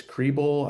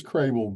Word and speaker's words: Kriebel: I hope it's Kriebel, I think maybe how you pronounce it. But we'll go ahead and open up your microphone so that you can ask the question of our participants. Okay, thank you. It's Crable, but that's okay.